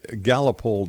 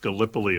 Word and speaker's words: Gallipoli: And what it was is it's actually, I think, pronounced Gallipoli. It's a place in Turkey.